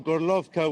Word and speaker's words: Gorlovka: Today I spent most of the day in Horlivka, according to its Ukrainian name, or Gorlovka, which is what all the residents of that city call it. That's the Russian pronunciation.